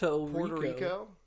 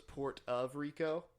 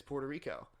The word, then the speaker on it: Puerto Rico: rico how do you how do you say Puerto Rico Puerto Rico Puerto Rico when when I was I used to think it was port of Rico mmm thought it was